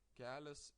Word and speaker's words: kelias: You see, kelias has a softening sign before a, so we pronounce it like kelias s and kelia e.